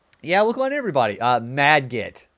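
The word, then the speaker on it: Margit: Uh Madget, that's how you pronounce it. Madgit.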